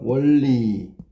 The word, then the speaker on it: 원리: 자음하고 원리부터 볼까? 원리 발음하면 원리가 되거든. 자, 그럼 바뀐게 뭐야? 그랬더니 니은이 리은이 된 거지.